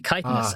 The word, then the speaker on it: chitin: think is hilarious was that was pronounced wrong it's actually kittens and the doctor who production office got an anonymous letter and all it said was the reason that i'm writing is how to pronounce chitin and that's all it